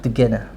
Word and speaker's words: Dugena: Dugena. Okay. Just want to make sure I pronounce that correctly.